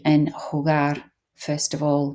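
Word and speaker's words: jugar: obviously the J and hugar first of all make sure you're pronouncing that as a h the V make sure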